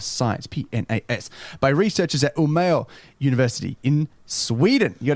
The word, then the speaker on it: Umeå: PNAS, by researchers at Umeå University in Sweden. You got a QS ranking? Give us that pronunciation again. Umeå. Wonderful. U-M-E and then A with two little degrees symbols on top of it.